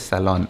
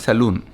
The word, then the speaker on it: salon: Someone told me in the comment section that it is salon. N is not silent. So just to confirm, I checked on Google as well. It is salon, but it is not saloon.